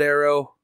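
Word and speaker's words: Aero: I pronounce it Arrow. I know some people will call it Eero, whatever.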